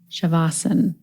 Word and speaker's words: śavāsana: indu in this interview today that it's actually shavasana so as I was learning and do kindly corrected my pronunciation and we got into a really interesting